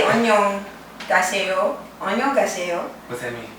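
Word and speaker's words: 안녕하세요: I can say annyeong gaseyo. Annyeong gaseyo. What's that mean? Like hello, hi. Oh. Good afternoon. Oh, how do you say it? Onion. Annyeong gaseyo. Onion gaseyo. Yeah. Annyeong gaseyo. Annyeonghaseyo. So it's like greeting, good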